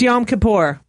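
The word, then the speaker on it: Yom Kippur: I thought yam kapor you guys don't even know how to say it it's yam kapor so I thought you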